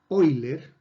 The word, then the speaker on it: Euler: Bueno, el señor Leonhard Euler, en alemán la EU se pronuncia como OI, y Leonhard Euler fue